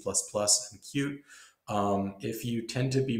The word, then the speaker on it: Qt: pronouncing the uh the QT project the way they want it to be pronounced it's actually not QT they want it to be pronounced cute um so so this